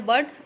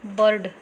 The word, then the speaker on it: bird: Here bird, in the bird you don't have to pronounce it like bird. Ra nahi aani chahiye, got it? It should be bird. It means R will be silent.